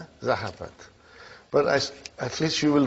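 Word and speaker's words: ذهبت: How do you pronounce it? Zahabat. Zahabat.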